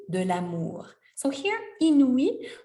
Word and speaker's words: inouï: So here, inouï, when you have the little dots, the umlaut in German, the little dots above the I or any other vowel, that means that we need to separate the preceding syllable before. So we have 3 syllables here, I, nu, I, and you really want to hear them all distinctively, okay?